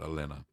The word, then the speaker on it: Elena: Anyway, I think it's Elena. That's how you say it, Elena.